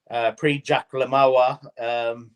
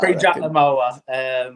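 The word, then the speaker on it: Prix Jacques le Marois: She took the pre-Jack Lamawa. Did I say that right? You butchered that. You butchered that. Pre-Jack Lamawa.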